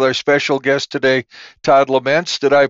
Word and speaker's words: Lemense: Hi, this is David Brower, and your 20-minute podcast continues with our special guest today, Todd Laments. Did I pronounce that right?